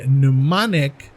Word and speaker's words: pneumonic: a convention and a pneumonic utilizing the m is silent it's pneumonic utilized to